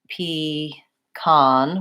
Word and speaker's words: pecan: what the tendencies are I tend to say P con with an AA vowel I also have heard